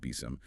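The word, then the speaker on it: BSIMM: And complementing SAM is the building security in maturity model BSM often pronounced BIOM.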